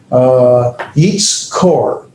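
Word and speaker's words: יִקְטֹל: And so in the second root position, that's under the cough, you have the holum, that is that dot at the top, the O sound. And so you have yitz kor, and that is the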